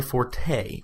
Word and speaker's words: forte: It's because it's not my forte, which is pronounced for, but it's not my forte.